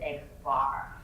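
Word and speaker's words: x̄: And we pronounce this guy here as X bar.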